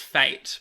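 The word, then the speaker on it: fête: even unto the gallery pronounced Fate by the way faint I yeah like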